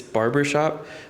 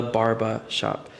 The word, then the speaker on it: Barba Shop: And I say it like that because people think it's barber shop. They're like, yeah, which barber shop? I'm like, the Barba Shop.